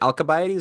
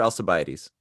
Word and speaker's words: Alcibiades: ward, the radical democrat, I think it's pronounced Alcibiades, but I don't know why it's a K. Quan, is it Alcibiades or Alcibiades? Both are correct, okay? Depending if you choose American or British pronunciation.